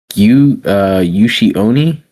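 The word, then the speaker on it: 牛鬼: tied to closely to it's pronounced Yushi Oni.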